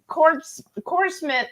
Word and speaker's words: corpsman: Said, I have to argue a corpsman. How do you say it? Not corpse. I'm Corpsman. So, okay, Corpsman. Ignore the P and the S.